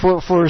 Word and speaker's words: Brrbrlpp: When we look at it, I pronounced it with something weird like Brrbrlpp. It's someone drowning or something. It looks like someone gargling with water or something. That's right, it's Brrbrlpp.